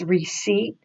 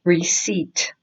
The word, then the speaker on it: receipt: debt so here it's receipt the P is silent and you go straight to the T so it's receipt receipt a whole line original